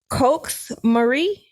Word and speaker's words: Coax Marie: mispronounce her name so let me say it right coax Marie c-o-a-x Marie oh yeah